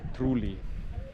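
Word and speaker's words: Troulloi: But yeah, that is the very Byzantine looking Orthodox church here in Truli, as it's correctly pronounced.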